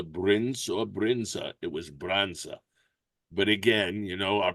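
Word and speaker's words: brânză: Brinsa. It's a type of cheese. Again, probably Romanian. And the Romanian that I found didn't say brins. It said bronza. B r an n za.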